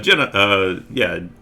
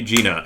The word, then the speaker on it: Jenna: Thank you, Jenna. Jenna? I say it wrong, but it's pronounced the same way you say Gina. Okay, Gina. Thank you, Gina.